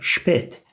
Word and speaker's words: spät: Ya da spät. Spät geç demek, sıfattır. Noktalı A, umlautlu A, E şeklinde okunuyor arkadaşlar.